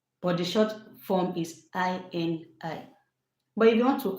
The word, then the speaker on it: Ini: but I decided to use the short form, Ini. It is pronounced I N I.